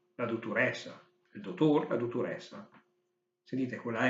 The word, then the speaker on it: dottorèssa: In milanese si dice la dottoressa, il dottor, la dottoressa. Sentite, quella E aperta è perché vuole l'accento.